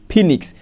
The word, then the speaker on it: phoenix: যেমন দেখো ও ই থাকলে বলছে, এই ও ই আছে, দেখো PHOENIX ফিনিক্স, দেখো ও ই এটার উচ্চারণ হয়েছে দীর্ঘি এর মতো, দীর্ঘি এর মতো।